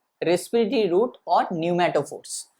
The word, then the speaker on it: pneumatophores: called respiratory roots or pneumatophores. P silent होगा, NEUMATOPHORES, pneumatophores, NEUMATOPHORES। यहाँ पे P जो है वो साइलेंट होगा। क्या बोला जाता है इसको बोला जाता है न्यूमैटोफोर्स।